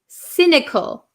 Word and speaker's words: cynical: have number one is cynical cynical remember this is a soft C Sound not a c c but a s sounds like an S cynical cynical and what